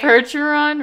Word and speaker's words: Percheron: out called the percheron hercheron said it right percheron really i literally said it right it's a